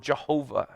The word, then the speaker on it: Yahweh: In our time, oftentimes we will use this name and pronounce it as Yahweh. Or maybe more traditionally in the past, they use the word Jehovah to speak of this name that God gives to Moses at that very time.